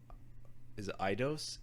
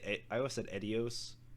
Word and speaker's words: Eidos: Well, the 2001 is a Eidos, EIDOS. I never knew how to. I always said Edios, but I know that's wrong.